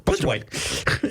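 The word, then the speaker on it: Plitzuweit: Blitzerwhite. I've decided if you say it real fast without syllables, you can pronounce it correctly. Blitzerwhite.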